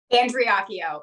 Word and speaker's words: Andreacchio: Am I pronouncing that right? Andreacchio.